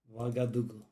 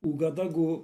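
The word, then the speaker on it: Ouagadougou: Wagadugu. And I was pronouncing it Ugadagu or something like that, and I was correct.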